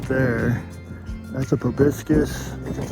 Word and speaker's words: proboscis: That's a proboscis, that's how you say it.